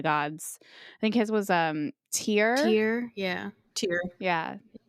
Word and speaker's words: Tyr: I think his was Tyr. Tyr, yeah. Tyr. Yeah. The only reason I knew how to pronounce Tyr is because there's a fitness company called Tyr.